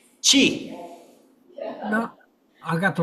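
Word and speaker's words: 七: How do you pronounce number seven in Chinese? Chi.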